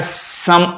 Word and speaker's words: समा: लेकिन चूंकि ये अरबी का है तो शुद्ध होता है सम आ, समा, सम आ।